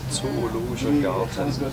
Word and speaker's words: Zoologischer Garten: What's the correct pronunciation, Frank? That's German, we call it Zoologischer Garten.